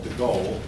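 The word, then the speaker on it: de Gaulle: the person of Charles deal if you're French you pronounce those names much different we do here but I've always called him Charles deal um the book pronounces it charl the go um anyway the go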